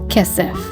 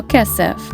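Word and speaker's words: כסף: the fifth and final word we have is kessef it is the Hebrew word for silver we spell kessef with the following letters of cough and final pay kesef okay kids it's time to review the words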